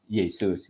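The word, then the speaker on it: 耶稣: bahasa Chinese ya ya Yesus ini dibacanya Yesu orang Chinese enggak ada sus gitu kan enggak ada sus mereka adanya su Yesu dibacanya masalah enggak buat kita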